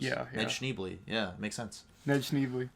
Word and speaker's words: Schneebly: like they don't have cool names yeah and schneebly yeah makes sense ned snively yeah classic um schneebley that was funny to me it's pronounced schneible actually yeah i like his like kind of